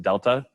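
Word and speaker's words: Δ: there that looks like a triangle is usually pronounced delta.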